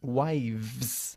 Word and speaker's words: wives: Se dice a wife, pero 3 wives. La F se convierte en una V.